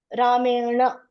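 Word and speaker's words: rāmeṇa: The tongue should hit the roof, okay? Ramena, na.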